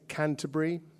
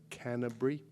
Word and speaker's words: Canterbury: Uh this last one is takes place in Canterbury. Uh you call it Canterbury, but there's four syllables and a T. It's called Canterbury. And uh it takes place in Canterbury in the early 80s.